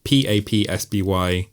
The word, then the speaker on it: Papsby: I've been Josh, and you can find me on Twitter, Instagram, Letterboxd at PAPSBY, at PAPSBY. That's at Papsby. Rhymes with Gatsby.